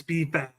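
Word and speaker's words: B-Fab: didn't want to say it wrong but it's bab so we got this group they haven't broken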